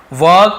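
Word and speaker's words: work: वई लिव याने रहना वर्क ये भीजी वर्क ऐसे बता वर्क लेकिन वर्क थोड़ा सा आर साइलेंट रहता है इंग्लिश में यदि आप थोड़ा सा एडवांस इंग्लिश में तो वर्क ऐसे बोलते ठीक है वर्क यानी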